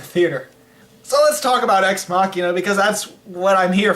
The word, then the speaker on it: Ex Machina: Ex Machina? It's called Ex Machina. Now, I would understand if he said Ex Machina, because that's how it's spelled.